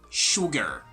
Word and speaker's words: sugar: try to pronounce it we have an ass in there but the sound is totally different like the sound is shu not su okay so this is gonna be sugar sugar not sugar but